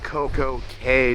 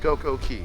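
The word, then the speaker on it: CocoCay: do but tomorrow it's Coco K day a perfect day in Coco okay even though it's pronounced CoCo Key but you know what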